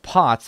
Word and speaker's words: POTS: be another sauce stag it's pronounced pots as in pots and pants okay yes what is